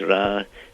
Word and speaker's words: Ra: smudging it in the center which is really pronounced ra and stood for the name of the supreme god of Egypt ra uh so um it is quite inconceivable that